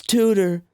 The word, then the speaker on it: Tudor: It's Tudor, but I wanted to pronounce it like that.